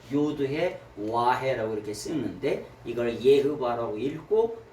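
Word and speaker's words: Yahweh: 그래서 여호와라고 하는 발음을 원래 예흐바라고 발음합니다.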